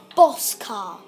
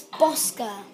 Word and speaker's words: Bosca: some people might pronounce my channel, right, this is just good to get this like straight, because some people would pronounce my channel Bosca. It's Bosca.